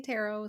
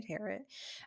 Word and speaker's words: tarot: ways some people say tarot some people say tear it um but um many